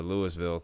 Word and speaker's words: Louisville: got is towards uh Lewisville because apparently that's a pronunciation according to the news people in Georgia that this is Louisville Georgia which is crazy to me I want to call it Louisville but I I guess